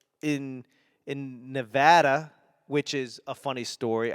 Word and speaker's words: Nevada: I do everything I can to get away from my accent, and Nevadians get really upset when people not from Nevada pronounce Nevada as Nevada.